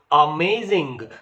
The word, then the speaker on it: amazing: is called arising Rhythm say for example amazing so a is weak May is strong and Zing is weak so amazing so rising